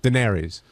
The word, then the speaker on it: Daenerys: How do you pronounce it? Daenerys. It's not spelled that way.